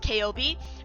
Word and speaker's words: Kaobi: Also, we actually know her name is pronounced Kaobi because she asks Vulcan how to say her name that is on that weapon she has, and Vulcan says it's pronounced K-O-B, like spelled, and it's like spell out the pronunciation in the story, and I was like,